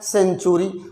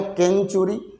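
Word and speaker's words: century: और जिसको मान लीजिए उच्चारण का ज्ञान नहीं है, अब यहाँ पर लिखा है सेंचुरी, कोई इसको पढ़े केंचुरी, यहाँ है साइबर, कुछ लोग इसको पढ़ जाते हैं काइबर।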